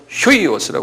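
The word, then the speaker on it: υἱός: 이건 휴이오스라고 그랬어요. 휴이오스라는 건, 요건 여기 이거 you인데 독일 말처럼 아포스트로피에처럼 이렇게 탁 이런 식으로 해놓으면 휴 발음이에요. 독일 말과 비슷해요. 그래서 휴이오스. 그래.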